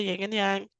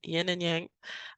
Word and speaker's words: yin and yang: little good or bad ying and yang y yin and yang I always mispronounced that right but just because